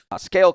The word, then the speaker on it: SCAYLE: Scale Commerce, spelled with a Y, SCAYLE.